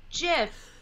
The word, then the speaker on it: GIF: they always called it jiff then and that was before people were using them generally as ways of communication okay and because the creator had said that it was jiff what's really interesting about